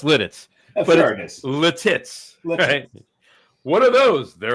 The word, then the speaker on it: Lititz: then and and it's there's a town uh l i TI TZ it's pronounced l litit l pronounced litz it's pronounced lits Lititz what are those they're Lititz there you